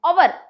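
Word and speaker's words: hour: जैसे कि अवर, ये शब्द की शुरुआत व्यंजन से होती है लेकिन उसका उच्चार अवर करते हैं, अवर।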